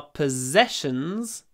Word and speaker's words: possessions: we lost all our possessions in the fire possessions we lost everything that we possessed so this is quite a strange word because the double s is pronounced Zed possessed possessed everything that we